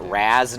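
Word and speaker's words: Ra's: the same time sorry I guess we're officially pronouncing it Raz now since like they've changed the pronunciation in everything to raise al ghul all right labs or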